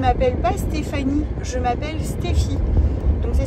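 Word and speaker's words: Stephy: fait je ne m'appelle pas Stéphanie je m'appelle stffy donc ça s'écrit S T e P h y euh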